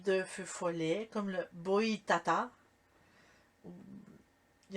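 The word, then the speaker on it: Boitatá: Ben, en fait, ça s'écrit Boitata accent aigu. Oh, oui. Boitata.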